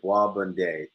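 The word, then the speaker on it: Bois Bandé: Lucia called Bois Bonday. It's spelled Bois and then space Bandae. And what it translates in Creole is hardwood.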